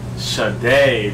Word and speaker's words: Sade: Shit, damn, we pronounced it wrong again. Sade, damn.